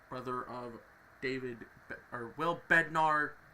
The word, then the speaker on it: Bednar: uh will Bender brother of David or will Bednar not Bender bednard David bnar is his brother Diego Vasquez